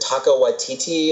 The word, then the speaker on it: Taika Waititi: Is it Taika Waititi or? I think you pronounce it correctly.